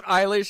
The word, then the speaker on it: Eilish: It is Eilish, and she's the girl of my dreams, and she's half my age, and that sucks.